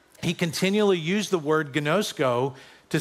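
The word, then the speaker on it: γινώσκω: And the word is pronounced gnosko. And this Greek word gnosko simply means this, to know God by experience.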